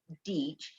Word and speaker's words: Dietsch: of you is dietch that rhymes with beach there you go yes